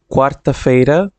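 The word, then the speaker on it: quarta-feira: সিগগুন্দা ফেরা সোমবার তেরসা ফেরা তেরসা ফেরা মঙ্গলবার কোয়ার্তাফেরা কোয়ার্তা ফেরে ওয়েনসডে বা বুধবার কিনতা ফেরা কিনতা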